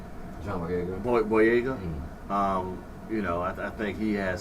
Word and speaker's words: John Boyega: John Boyega. Boyega.